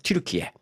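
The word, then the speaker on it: Türkiye: 기도 있네 그래서 이제 그 터키의 그 그들 발음입니다 이게 그들 발음 발음 트리키의 자 트리키의 당국이 이슬람교에서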